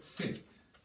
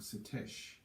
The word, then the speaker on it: Seth: We've got Seth, or Setesh, depending on how you pronounce it, What about Sut?